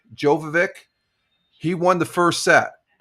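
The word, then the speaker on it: Djokovic: Uh the D is silent. So, I think I can pronounce this guy's name. Jovic. Jovik.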